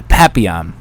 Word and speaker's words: Papillon: uh what the f i cannot was it papillon i cannot pronounce the name because i'm um yeah papiyan so i started out the trip watching that